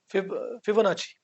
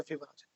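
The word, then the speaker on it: Fibonacci: वो एक मैथमेटिशियन था फिबोनाची। ओके। फिबोनाची फार्मूला है। और नेचर में भी है फिबोनाची और एक बार मैं ऐसे YouTube पे कुछ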